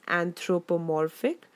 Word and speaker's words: anthropomorphic: Notice the pronunciation, guys. It's anthropomorphic.